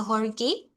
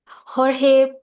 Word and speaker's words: Jorge: Horge uh from the National University of Costa Rica. And basically for professor Horge uh I pronounce your name right. Did I pronounce it correctly? Uh Jorge.